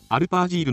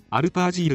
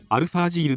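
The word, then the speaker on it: アルパ・アジール: なおアルパージールの読み方はアルファージールではなくアルパージールと呼称される。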